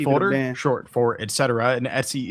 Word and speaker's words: etc: The Etsy folder, short for etc. And Etsy is the common way to pronounce this.